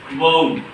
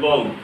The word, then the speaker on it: woad: So in all it becomes woad, woad. So this is how this word is pronounced in the UK. In the UK this word is pronounced as woad.